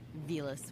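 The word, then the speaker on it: Villads: Velas with a silent D.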